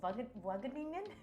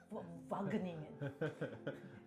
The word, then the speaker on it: Wageningen: I don't think I can pronounce it well. Wageningen?